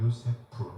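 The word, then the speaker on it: יוסף: 요셉이라는 이름의 기본적인 발음은 요세프입니다. 요세프 해보세요.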